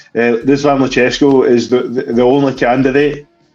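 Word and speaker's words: Răzvan: Like, by the way, I found out that apparently it's not pronounced Razvan, it's pronounced Rizvan Lucescu.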